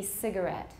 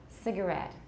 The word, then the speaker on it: cigarette: that's the most common but it can also be cigarette cigarette he smokes cigarettes he smokes cigarettes though a lot of the words that have variable stress like this are from french they're french loan words how about this word